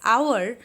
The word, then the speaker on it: hour: Though that starts with H, I pronounce it as hour that has a vowel sound.